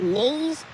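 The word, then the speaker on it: Neys: We walk into the beach at Nays Provincial Park. It's spelled N-E-Y-S. Is that Nays or well, the GPS said Nays.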